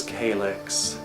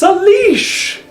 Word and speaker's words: Calyx: I'm not even kidding, I once had a woman try to correct me, and she like made this big show of it and said, "It's pronounced Salish!" Like, wherever you are, lady, you're still wrong.